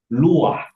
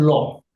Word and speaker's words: luah: Nah, cuma hanya salah pronuncias aja harusnya dipronoun luah bukan loh. Karena sudah pindah ya itu geografis. Posisi geografis tempat itu mempengaruhi pronunciation ya dari luah menjadi loh.